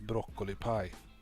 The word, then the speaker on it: Broccoli Pie: And this name is pronounced broccoli pie. This is a Swedish player. We call him Broccoli.